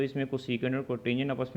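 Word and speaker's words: cotangent: है, कोट या कोटेंजेंट, इसको वैसे लिखा कोट जाता है लेकिन इसको प्रोनाउंसिएट आपने कोटेंजेंट ही करना है ताकि आपको इसकी फुल फॉर्म हमेशा याद रहे।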